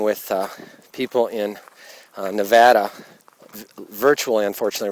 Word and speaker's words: Nevada: It's not Nevada. It's Nevada.